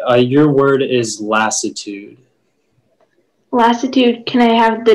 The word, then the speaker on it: lassitude: a lassitude is middle french from latin um lassitude are there any alternate pronunciations it can be lassitude or lassitude lassitude l a s s i